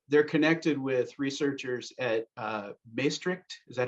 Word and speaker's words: Maastricht: They're connected with researchers at Maastricht. Is that how you say it? University? Maastricht, yeah.